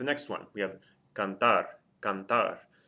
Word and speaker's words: cantar: Cantar. Hopefully you're hearing that the stress of the word is on the last syllable, and it ends in something other than a vowel N or S.